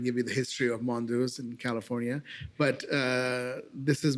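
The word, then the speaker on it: Mondeuse: How do you pronounce it? Mondouse.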